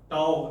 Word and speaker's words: tau: Tau we pronounce like this, T-A-U.